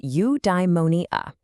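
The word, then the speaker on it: eudaimonia: It's pronounced udeimmonia.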